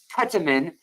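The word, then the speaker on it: ketamine: you guys that my ketaman and I'll say it like the Brits ketaman uh and Es ketaman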